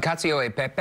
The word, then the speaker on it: cacio e pepe: Cacio e pepe. Yes. I believe my pronunciation is not great, but this sort of tastes like mascarpone cheese.